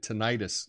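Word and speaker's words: tinnitus: I have t tenus i was learned it ttis growing up but I think it's tenus is a a better pronunciation uh constant ringing in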